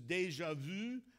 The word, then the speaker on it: déjà vu: I know this is déjà vu. That's how you say it in French.